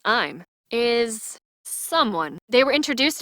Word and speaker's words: Im: The character I'm, pronounced I'm, is someone.